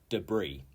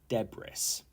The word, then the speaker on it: debris: getting hungry 21 is debris debris not deis deis and this is waste